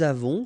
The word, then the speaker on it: avons: Okay, so j'ai, tu as, final S not pronounced, il a, elle a, nous avons, final S not pronounced, and then we make this little link between the two, nous avons, vous avez, a Z